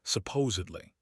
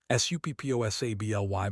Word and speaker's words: supposedly: The word is supposedly. Pause, let that sink in. Now most people say supposedly. Supposably, but look at the spelling.